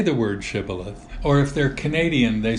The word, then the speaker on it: Shibboleth: And he says no, then they would say to him, say now Shibboleth. But he said Sibboleth, for he couldn't pronounce it correctly.